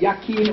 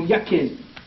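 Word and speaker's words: Jachin: is consciousness and energy the English J is silent and it's y so you got yaquin or yakin the root of the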